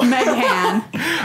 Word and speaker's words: Meghan: There's also an H in Meghan, and I don't pronounce it. And that's on you. Meghan.